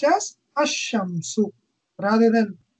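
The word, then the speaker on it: الشمس: with a solar letter, the la of al is assimilated to the solar letter. For example, al shams, meaning the sun, is pronounced as ashamsu. Rather than al shams, we'll pronounce it as ashams.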